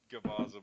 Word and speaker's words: Gervaza: But we do have Gervaza, right? Did I say that right? It's Gervaza, but I can Ugh.